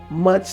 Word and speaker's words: Musch: foundation and it's called much love foundation but it's spelled m-u-s-c-h like mush bond with a plain words but it's called much love foundation and the foundation is